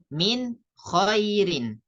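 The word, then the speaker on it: مِنْ خَيْرٍ: sukun ketemu ee ko nun sukun ketemu ko Min ketemu koirin nanti kita bacanya Min khairin jadi Nun sukunnya dibaca Dibaca jelas itu namanya izhar halq Kemudian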